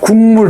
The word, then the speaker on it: 국물: 우리가 국물 있잖아요. 이런 거. 발음이 이응하고 미음으로 발음했잖아요.